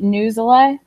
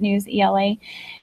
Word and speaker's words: Newsela: Some people pronounce it NewsELA, but it just makes sense for me to call it NewsELA.